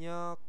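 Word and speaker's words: 력: di sini ada yang nyok ya ini ya ini teman-teman hati-hati bacanya bukan yang riok tapi yang nyok karena apa di sini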